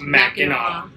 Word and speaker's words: Mackinac: So even though it's spelled Mackinac, it's pronounced Mackinac. Remember that, guys. So don't be like the us. The C is silent. Yes. Thank the French.